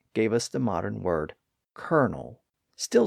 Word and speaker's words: Colonel: thing and that gave us the modern word kernal still spelled the Italian way with its original